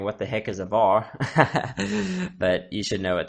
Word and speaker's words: var: But basically using var, or var, however you want to pronounce it. I just say var because that's how I say variable. But yes, var is the old way of doing things.